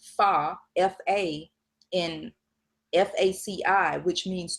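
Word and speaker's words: 发: In the Chinese language, hair has the same pronunciation and character as fa, F-A, in F-A-C-I, which means to become wealthy.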